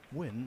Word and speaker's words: Nguyen: have been hill but win missed quite a simple six ball is that how you pronounce it Phil win when it's ng G U Y E N.